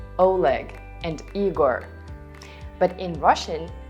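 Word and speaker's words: Олег: Because in all of them, O is not stressed. And what does it mean? Right, you read it as A. Boris, Oleg, Igor.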